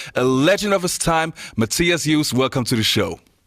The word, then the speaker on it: Matthias: call you matthias because we're both german and and matthias is the correct pronunciation so it's not mathias it's matthias and i can actually